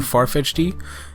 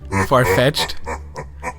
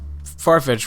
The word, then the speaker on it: Farfetch'd: I say it like I read it. Farfetch'd and Sirfetch'd. It's a habit I've had forever. It's a habit I've had since the beginning, where I started like making fun of the Pokemon, and I just constantly refer to it as Farfetch'd D. I'm sorry, but pronouncing it like that seems a little far-fetched.